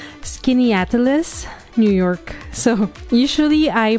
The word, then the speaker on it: Skaneateles: with me it's kind of hard to pronounce skin atalis New York so usually I pronounce it skin but um I heard that it's pronounced skin atalis okay so it's a few miles west of